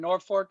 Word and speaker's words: Norfolk: I had family in Norfolk until recently. I know that it's not pronounced, it's not pronounced with an L, it's pronounced with an R.